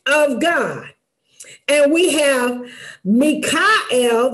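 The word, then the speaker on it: מיכאל: God and we have Mikel that's how it's pronounced in Hebrew Mikel which is who is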